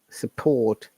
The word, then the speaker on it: support: u in the word support yeah is another short sound okay so support and r is silent you might be aware